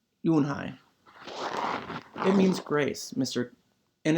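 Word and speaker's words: Unhei: Kim and then turned to Joey she nodded slowly yes it's pronounced you won't hi it means grace mr.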